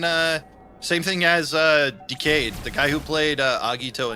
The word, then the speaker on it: Decade: I think the end is like um Decade's actor where he really likes the material, so he likes to be involved whenever Tolli lets them. I know it's pronounced decade, but the character pronounces it decayed, and that's that's how I pronounce it.